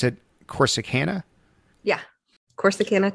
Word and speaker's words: Corsicana: is in a small town called do you pronounce it corsicana yeah of course the canada texas and that's